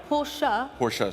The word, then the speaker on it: Porsche: Porsche, say it right.